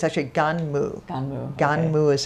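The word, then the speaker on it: Gunnm: I did not I learned today it's actually ganmo ganmo ganmo is how you pronounce it okay uh I was say G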